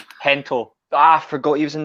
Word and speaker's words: Gento: Was this Is it Gento? Gento. Hento.